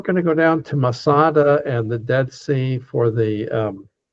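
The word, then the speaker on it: מצדה: In Hebrew, it's pronounced Masada. Masada in Hebrew means a fortress.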